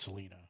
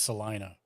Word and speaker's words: Salina: lived in Kansas no one ever called it Selena it's one of those oh how is it pronounced it's one of those Italian joints it's Salina oh Salina okay well which I would have